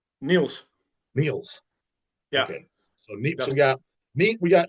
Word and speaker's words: Niels: I mean, how's it pronounced? Neils or Niles? Neils.